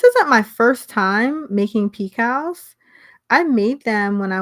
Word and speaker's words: picot: And when I read picot, I thought it was picket because it's spelled Picot, but it's a picot.